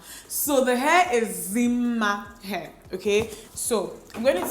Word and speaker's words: Dimma Umeh: name as well, and when I see double M's, I pronounce it as ma. So the hair is Dimma Umeh, okay?